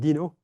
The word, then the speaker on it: DINO: Um, it's made by French people at Fair Paris, so they pronounce it dino. On this other pond, they said dino, but um, and it works really well.